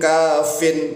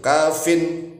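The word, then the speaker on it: كافٍ: daripada huruf yang dibuang, sehingga kita bacanya likuling kafin gitu. Kafin, jangan hanya kafi.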